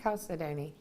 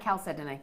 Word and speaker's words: chalcedony: Chalcedony. Well, some people say chalcedony, some people say, I say chalcedony.